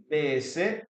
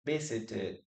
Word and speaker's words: visited: Visit, visit, and then we have three syllables here. Visited, visited. And it is the same here, visited. Okay? That's why we pronounce the letter E.